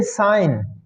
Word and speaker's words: sign: कौन सा word साइलेंट हो रहा? जी, गुड। इस तरह से हम देखते हैं साइन, SIGN, साइन।